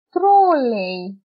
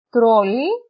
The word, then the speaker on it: τρόλεϊ: Και επίσης έχουμε τα διαλυτικά, που επίσης αυτά χωρίζουν τα δύο γράμματα. Όπως λέμε, δεν τα προφέρεται ξεχωριστά. Όπως λέμε, χαϊδεύω. Χαϊδεύω. Μετά, τρόλεϊ και λαϊκή. Αν δεν ήταν τα διαλυτικά, θα το διαβάζαμε ως σχεδεύω, τρόλι και λεκή.